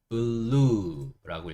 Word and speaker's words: blue: 그 다음에 마지막에 있는 E는 여기서 소리가 나지 않는 묵음이에요. 그래서 BLU 여기까지만 소리를 냅니다. 그래서 읽어보면 어떻게 되죠? blue라고 읽을 수 있죠.